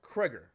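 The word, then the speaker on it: Cregger: Greger, let's go and look up who Zach Greger is. Hold on. If you ever seen the movie Barbarian, I didn't mean to do that. Zach Kreger, I keep getting his fucking name wrong. Okay, Zach Kreger.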